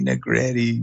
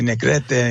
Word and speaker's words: Negrete: a kid my homeboys would make fun of me saying negretti you know like like uh because it rhymes and stuff like that i hate it i hated that name i'd be like my name's negrete you know i'd say the spanish version right but uh i